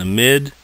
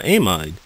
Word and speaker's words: amide: an amid know that the functional group shown below can be pronounced Amid Amid or amide depending on your mood practice problem two the